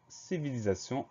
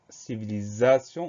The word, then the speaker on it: civilisation: Ensuite, civilisation, on a la syllabe za. Le son z s'écrit avec un S tout simple parce qu'il est entouré de deux voyelles.